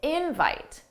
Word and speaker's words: invite: But notice for the verb, the stressed syllable is the second syllable. Da-da, invite, invite. That's the verb. Invite, invite, that's the noun.